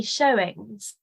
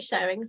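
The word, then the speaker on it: Shewings: shs oh so um writes it with an e but as I'm not a medieval expert as far as I know you just say showings oh right yeah but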